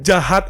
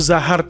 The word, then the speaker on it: Zahard: Gue juga nggak tahu ya manggilnya Jahat atau Zahard. Gue baca di translate Inggris itu namanya Jahat, tapi di kolom komentar pada bilang namanya itu Zahard. Cara bacanya itu Zahard.